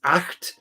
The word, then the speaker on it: acht: But you hear it in German. It's acht. Note on pronunciation. I know I'm not a native German speaker, but a note on pronunciation. A lot of people have a tendency when they're speaking German to acht, because they're like acht. But that's not how the German CH is.